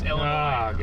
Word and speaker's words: Illinois: I shouldn't have said the S. It's Illinois. I know. Ah, Garrett, the S is silent.